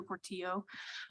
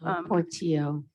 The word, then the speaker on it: Portillo: This is Commissioner Reed, and Carrie, I just want to correct your pronunciation. It's Commissioner Portillo. Portillo.